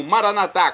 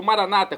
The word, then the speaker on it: Maranatá: Agora eu clamo Maranatá, como dizemos nós católicos, ou Maranata, como dizem nossos irmãos separados, os evangélicos. Não importa a pronúncia, o significado é o mesmo.